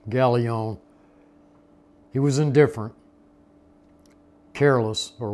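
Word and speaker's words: Gallio: I pronounce his name like the Greek, Galion.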